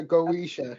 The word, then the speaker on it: Goetia: Goetia. Goetia. Do I have it right? Goetia, am I saying it right? Yeah, Goetia. Yeah, that's how you pronounce it.